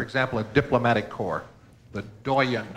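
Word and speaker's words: doyenne: The doyen. This must come from French, considering the last pronunciation. Yeah, French, because this one's as good as spelled. Doyen or doyen.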